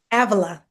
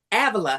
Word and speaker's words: Avila: How you pronounce it? Avila. Avila.